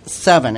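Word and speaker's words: Sevin: first one we want to talk about is seven and it's spelled SE VI m and a lot of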